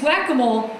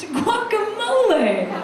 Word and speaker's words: guacamole: I go, I think this party needs whack-a-mole. Another lady on the committee, she looks at me and she goes, no. I believe it's pronounced guacamole.